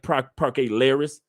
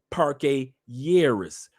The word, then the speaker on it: Parque Lleras: Stop saying Parque Lleras. Two L's in Spanish is a Y. Parque Lleras, not Lleras.